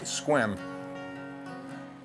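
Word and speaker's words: Sequim: Seattle said we'd find him in a town pronounced squim down a road he said with a funky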